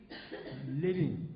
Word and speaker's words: living: living. 리가 아니라 L자 발음이 living bread.